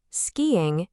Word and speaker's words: skiing: Skiing is 2 syllables. Ski-ing, not 1.